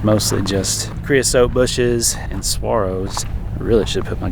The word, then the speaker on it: saguaro: It's mostly just creosote bushes and saguaros.